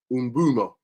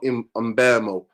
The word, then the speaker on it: Mbeumo: Umbumo. That's what it is. Not Mbemo. It's Umbumo. That's how you pronounce it.